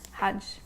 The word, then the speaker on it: KJH: Collaborated with KJH, I think that's how you pronounce it, Hudge. And they made this beautiful brush set. KJH is Hudge.